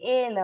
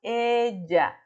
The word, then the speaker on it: ella: Não é ela a pronunciação, não é ela a pronunciação, é ella, ella, ella, como se fosse com J a pronunciação, só que não, é com duas L's e falamos de ella, ok?